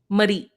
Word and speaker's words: Marie: On her gravestone were the words Murray, and it's pronounced Murray. Marie.